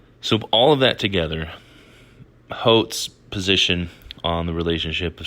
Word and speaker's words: Holt: So after reading Holt, the selection from Science and Religion by John Holt, I think that's how you say his name. I've heard it pronounced other ways, but we'll say Holt.